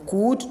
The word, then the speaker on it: could: in our model auxiliary verb should could all those words L will be silent. So could not could it will be could should would L is silent.